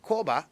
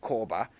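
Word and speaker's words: Korba: they say but with koba every minute of your time is like a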